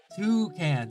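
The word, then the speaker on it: toekan: Toucan. So it's spelled with an OE in Dutch, but the OE is pronounced with an O. Two O's.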